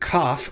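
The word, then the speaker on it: כף: The Hebrew consonant Kaf, when it lacks the Dagesh, is a ch sound that we'll talk about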